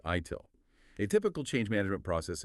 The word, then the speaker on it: ITIL: A lot of these concepts come from frameworks like the IT infrastructure library or ITIL pronounced ITIL.